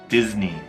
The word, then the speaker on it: Disney: 这个单词就是我们美国人发错的。必胜客 Pizza Hut，我经常听到这个发音错误，不是 pizza。肯德基其实 KFC 的长名就是 Kentucky Fried Chicken KFC，但是你说 KFC 也行。麦当劳 McDonald's，迪士尼 Disney，中间有一个 Z 的声音 Disney.